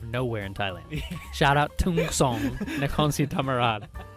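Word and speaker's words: Thung Song: Shout out Tung Song, Nakhon Si Thammarat. How do you say that? Tung Song. Tung Song.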